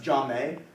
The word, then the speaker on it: Jamie: It's pronounced Jame.